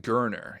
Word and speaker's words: Gerner: Holden Gerner. It's like Turner Gerner. With a G.